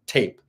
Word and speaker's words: Tappe: So the original person who coined the term indigo was Nancy Ann Tape. Tape is spelled Tappe.